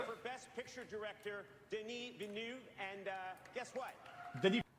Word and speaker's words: Villeneuve: Villeneuve, is how you say it.